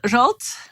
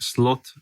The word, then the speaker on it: Zsolt: floyd a moments jolt did i say your name correctly yes that is correct paulo now thank you for saying it yes correctly but you're used to finnish people pronouncing it a little bit wrong aren't you so well i heard all sorts of pronunciations like slot and salt and pepper you know so i'm